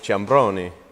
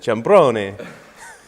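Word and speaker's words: Ciambrone: my family is from Calabria so it's it's pronounced Dominick jabroni so even when you know someone it's kind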